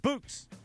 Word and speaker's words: Bouqs: This is why we go to the Bouqs company every single time. Bouqs is short for bouquets. It's spelled Bouqs.